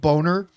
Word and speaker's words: Bonner: Kevin Bonner, pronounced Boner, right?